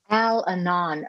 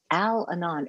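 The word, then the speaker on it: Al-Anon: question what is alano how do you say al anon we we have alcoholics anonymous and then we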